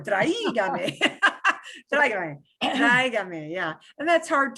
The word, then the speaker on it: Tráigame: Accent on the A or the I? On the A. Tráigame. On the I. Otherwise, it would be tráigame. Sounds like a True, horn. true, true. Sounds like a horn.